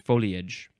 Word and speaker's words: foliage: not living with us, you shall pronounce it foliage. We're a three syllable foliage household.